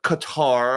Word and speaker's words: Qatar: 400 jet engines to Qatar. I'm sorry, Qatar. I've had some people got on get on my case about the way I I pronounce cutter.